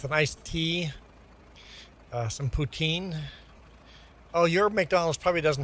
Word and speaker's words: poutine: Every fast food restaurant in Canada serves poutine. Never heard of McDonald's, Wendy's, A&W. We all have poutine on our menu. Uh, the actual pronunciation should be uh poutin. Putin anglicized to put poutine.